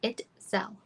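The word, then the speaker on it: Itzel: wasn't a question um my name is itel itel so it's the word it and you know the banking app so just together it's so that's how you say my name everyone says it differently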